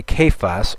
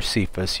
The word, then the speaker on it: Cephas: he was seen by Cephas, or Cephas, you could pronounce it either way, then by the 12.